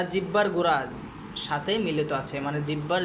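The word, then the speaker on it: ث: সায়ের উচ্চারণটা কিভাবে করব আমি বলে দিচ্ছি।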